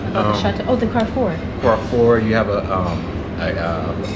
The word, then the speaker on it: Carrefour: Oh, no, I should pronounce that. Carrefour. Yeah, Carrefour.